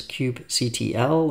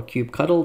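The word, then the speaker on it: kubectl: need to install is Cube CTL or cube cuddle depending on how you would like to pronounce it I've left a link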